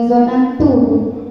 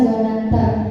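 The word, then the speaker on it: ظننتَ: Yang pertama, tadi saudari Lutfia Nurlaili bacanya zonantu, tapi seharusnya dibaca zonanta karena saudari Firda Mardatillah mengartikannya kau mengira.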